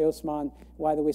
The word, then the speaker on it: Osman: by the name of Osman this is the Turkish pronunciation of an Arabic name mman where there's this